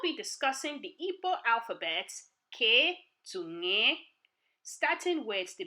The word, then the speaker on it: K: This Mkpụrụedemede is not pronounced the same way as in the English alphabet, K. It is pronounced as in the letters K-I, K, in the English word kit, as in medical kit. Say it with me. K, K, K, K, as in kit.